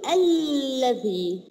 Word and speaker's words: الذي: طيب قولي لي يا توتا لما بنقول الذي التي نطقنا كم لام؟ نقول اثنين، برافو عليك. طيب احنا بنكتبهم كم لام؟ واحدة. يبقى ايه الحرف هنا اللي نطق ولم يكتب؟